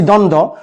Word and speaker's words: দ্বন্দ্ব: একটা লেজ লাগিয়ে দেয় এটারে দন্ধ বানায় ফেলায় এটা কিন্তু আসলে একদম ঠিক নয় উচ্চারণটা দন্দ অর্থাৎ দন্ত বফলা দন্তানদ